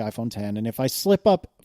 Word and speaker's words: iPhone X: earlier in the keynote, I expected to see the iPhone X, but now we know it's the iPhone 10.